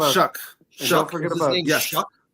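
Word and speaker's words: Shough: Shuck. Don't forget about It's spelled S H O U G H.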